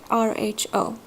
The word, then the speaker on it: rho: so that looks like a PU but it's pronounced as Rho Rho in order to perform the hypothesis testing using